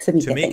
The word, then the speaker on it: Tameka: Well, if you want to reach out to Tameka, is that the correct way to say it? Yes, Tameka Anderson and the F.U.N coach.